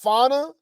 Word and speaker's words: Fauna: Okay, anywho, so we call her Fanta, and she's saying her name is Fauna, but she spell it Fania. So Fania, it's spelled like Fania, right? Or Fania, however, right? But pronounced Fauna.